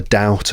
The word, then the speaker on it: doubt: But the word doubt, the B is silent. So it's doubt, and it's not doubt. No, doubt, doubt. There's almost a W sound.